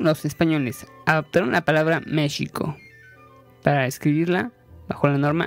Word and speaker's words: México: Así nació finalmente la palabra México, misma que comenzó una acalorada batalla contra México pronunciada con J o con G.